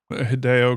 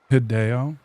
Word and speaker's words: Hideo: Whenever you have a Japanese name with three syllables in it, pronounce it like you would pronounce the English name Jennifer. Jennifer Which is also three syllables. Hideo Okay.